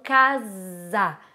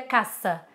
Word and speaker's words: casar: Tá escrito com S, aqui a gente pronuncia com som do Z, aí já é questão de gramática, complicado, né? Mas enfim, é basicamente um S entre duas vogais, a gente pronuncia com som de Z. Então, casar, certo? Não seria caça. Me caça, não. Seria casar, certo?